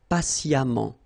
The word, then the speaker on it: patiemment: So as I told you, even if you write it E-M-M-E-N-T, phonetically it goes like amant, patiemment.